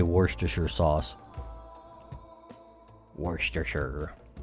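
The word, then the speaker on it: Worcestershire: jono wants to say worst to Sure sauce Worster sugar how am I going to do this I need a reference I might have to draw redraw large parts of this one it's actually pronounced Worcester Shear sauce so you say so you say okay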